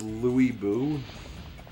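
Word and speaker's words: Lü Bu: and attack Dongo wait they pronounce it as Lou Buu that doesn't sound as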